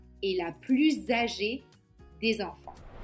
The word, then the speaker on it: plus: Léa est la plus âgée des enfants. Le mot plus a donc trois prononciations différentes. Soit on prononce le S, soit on ne prononce pas le S, soit on prononce Z.